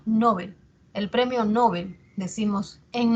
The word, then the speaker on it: Nobel: la tónica menor intensidad si nosotros por ejemplo pronunciamos Nobel estamos haciendo que la sílaba tónica sea en esté en no cierto y mientras que Bel hacemos que sea la atona Nobel el premio Nobel decimos